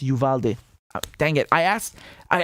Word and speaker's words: Uvalde: let you know that it's pronounced yuvalde dang it i asked